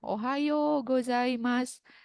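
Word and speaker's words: おはようございます: Meskipun ditulis ohayo, cara membacanya adalah ohayo dengan vokal panjang, kan? Ohayo gozaimasu.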